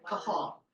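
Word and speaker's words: קהל: the Hebrew word and I don't even know how to pronounce it q a a l Cal is how guesses kahal which means congregation assembly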